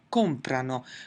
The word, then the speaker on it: comprano: Notice that in the 'lore' form in none of the conjugations will we ever have the emphasis on the ending itself. It's always going to be before the ending so it's COM-prano, PREN-dono, AP-rono.